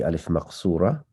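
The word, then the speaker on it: ألف مقصورة: either going to be alif maqsura or alif mamduda. Maqsura means limited or almost like reduced, shortened. And it sounds like an alif, but it's written like a ya.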